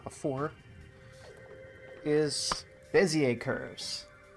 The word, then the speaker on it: Bézier: and not before is beier curves it's spelled weird because it's French um and then I